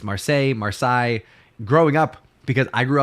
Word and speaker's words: Marseille: And if you're familiar, you don't pronounce French words with correct pronunciation. You would just say Marcel.